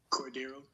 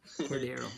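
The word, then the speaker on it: Cordarrelle: Cordero. Cordero.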